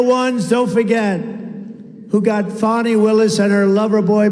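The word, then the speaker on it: Fani: have to pronounce it fonnie it's called Fanny you have to pronounce fonny I don't know how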